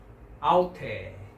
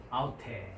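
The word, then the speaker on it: αὐτή: 그래서 윕실론 위에 온 이유는 알파하고 윕실론이 이제 이중모음이기 때문에 왔고요. 연기식이 왔고 악센트가 왔습니다. 그래서 아우테, 그죠? 아우테 이렇게 발음을 합니다.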